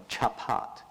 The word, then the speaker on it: chapat: And the white one on the middle side there is cha-pa-ta, for chapat. And this actually is the one phonetic rendition which allows us to know what a centipede is, how it's pronounced in ancient times, chapat.